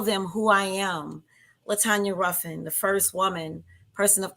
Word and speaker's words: Ruffin: Now, before we continue, am I pronouncing the last name correct? Is it Ruffin or Ruffin? It's Ruffin.